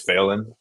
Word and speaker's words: Phelan: Um, so I I I respond to that, but I Okay, I've always told people it's failing, like fail in.